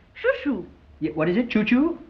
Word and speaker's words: Chouchou: Chouchou. Yeah, what is it, Choo-Choo? No, it's spelled C-H-O-U, C-H-O-U. Yeah, Choo-Choo.